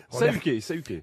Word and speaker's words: Saluquet: Puis Saluquet. oui, il fallait pas prononcer le L, mais il y a un L.